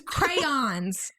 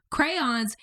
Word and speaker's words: crayons: it crayons which one no it's crayons it's a two syllable crayons you say it how it's spelled crayons oh look at